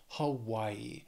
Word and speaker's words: Hawaii: our only Island state Hawaii has three syllables stresses on that second syllable Hawaii and again the spelling can can throw off the pronunciation A little bit but yeah just remember Hawaii then we have Idaho